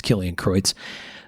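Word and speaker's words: Kilian Kreutz: k-i-l-i-a-n underscore k-r-e-u-t-z and i could be pronouncing that last name improperly which would be a shame for someone with a german last name like mine but i think it's killing kreutz um really really fantastic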